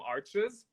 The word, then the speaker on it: Arches: in a block from arches which is actually pronounced arch but most people pronounce it arches because there's an s but you know french